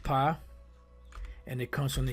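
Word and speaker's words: פ: It's pronounced pa, and it comes from the Hebrew word pa, which is pa ha, connected pa.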